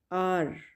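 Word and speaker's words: hour: The next word is आर। इसमें as silent है, एज की साउंड नहीं होगी, आर।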